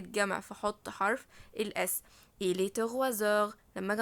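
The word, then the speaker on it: trois heures: إلي تغوازور، لما اجي انطق على بعض حرف الاس هيتنطق زد زي ما قلنا عشان بعده حرف فويل.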